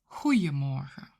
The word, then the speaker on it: Goeiemorgen: If you want to make those 4 sound less formal, you can replace the 'D' sound for a 'J' sound, which is spelled with an 'I'. Goedemorgen will become Goeiemorgen, Goeiemiddag, Goeienavond.